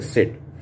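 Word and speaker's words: said: இது இந்த வார்த்தை எல்ஏ ஐடி லேயடு இந்த வார்த்தை பேடு ரேடு ஆனா இந்த வார்த்தையை சொல்லும்போது செட் அப்படின்னு சொல்லணும் எஸ்ஏ ஐடி வரும்போது செட் ஒரே மாதிரி உச்சரிப்பு இருந்தாலும் ஒரே மாதிரி எழுத்துக்கள் இருந்தாலும் இங்க மட்டும் உச்சரிப்பு மாறுகிறது ஓகேவா நான் சொல்றது புரியுதா இங்க எழுத்துக்கள் ஒரே மாதிரிதான் இருக்குதுஏஐடிஏஐடிஏஐடி இதுலயும்ஏஐடி தான் வந்திருக்குது.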